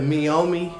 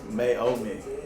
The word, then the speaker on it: Meiomi: You was almost correct, Okay. but you pronounced it like May. Oh. Yeah. Oh, somebody been on their anime. Meiomi.